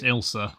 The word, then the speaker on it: Ailsa: It's pronounced Ilsa.